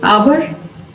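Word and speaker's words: hour: There are also a few words that start with a silent H. चंद ऐसे word भी हैं जो silent as से स्टार्ट होते हैं, जैसे आवर, ऑनेस्ट, ऑनर।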